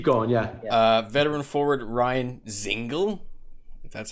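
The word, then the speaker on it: Ryan Dzingel: move on keep going yeah uh veteran forward ryan zingle that's how it's pronounced ryan is ingle is headed to the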